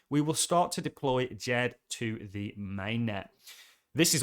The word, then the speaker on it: DJED: this is from the jed the sable coin jed i keep getting people comments saying it's not to jed the d is silent but neither here nor